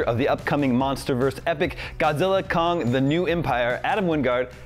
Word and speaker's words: Godzilla x Kong: So, first of all, the correct pronunciation, we just established this, it is just Godzilla Kong, the new empire, the X is silent, is that right?